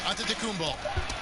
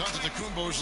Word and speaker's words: Antetokounmpo: At the elbow, it's Antetokounmpo.